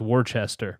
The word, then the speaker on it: Worcester: w r CH e st ER so it's Worchester but it's Worcester booster that reminds me of